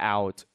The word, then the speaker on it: ư: how to pronounce it you move your jaw the lower jaw forward like this and pronounce and release the air out and the sound going to be like this o see o